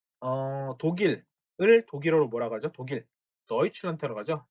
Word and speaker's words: Deutschland: 자, 단어 끝에 오는 D는 독일어에서 트 소리가 납니다. 그래서 Deutschland라고 쓰는 게 아니라 Deutschland라고 쓰셔야 돼요. Deutschland. Deutschland.